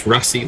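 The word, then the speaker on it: Rassie: Otto Seaman, we pronounce Rassi like fuzzy, almost there, and the R is hard, like you're making engine noises.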